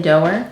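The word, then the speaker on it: Doerr: Cloud Cuckoo Land by Anthony, I don't know how to say it, Doer? Doer? I'd say Doer. With the 2 R's.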